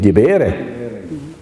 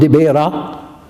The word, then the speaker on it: Dibere: As well, the place next to him, Dibere. Not Dibera, but Dibere. And you can listen. Dibere.